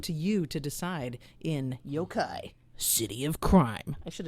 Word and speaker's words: yokai: Yokai, is that how? Am I pronouncing this right? Yokai?